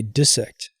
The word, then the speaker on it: dissect: he said he says say it correctly say dissect oh he says there's two s's between the i and the next e and so you have to make the i short that's what happens in